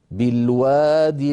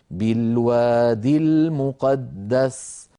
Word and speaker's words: بالوادي: نعم بياء في اخرها لكن هذه الياء ستسقط في النطق للتخلص من التقاء الساكنين فسنقول بالوا المقدس فان وقفنا على الاولى التي كتبت من غير ياء على نيه الوصل نقف كالخط اي نقول نقول نقول بالواد واعود فاقول كل هذا